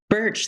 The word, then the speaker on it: Burch: can you say your name, because I'm French and I'm afraid I won't pronounce it well. Is it Burch? Burch, that's right.